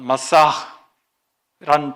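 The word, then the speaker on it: משיח: 그리스도, 헬라어로 크리스토스라고 하는 말은 기름 부음을 받은 자라고 하는, 히브리어의 메시아, 정확한 발음은 마사흐란 단어를 헬라식으로 표현한 것입니다.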